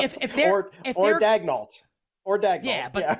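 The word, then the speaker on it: Daigneault: Like, if they're Dagnalt. Or Dagnall. Yeah, but it's not as fun. Like, the way it's spelled, it should be like it should be like pronounced like in the French way, like Daniel.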